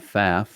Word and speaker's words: Pfaff: faf family is that is your last name faf and it's also spelled with a silent p it is we used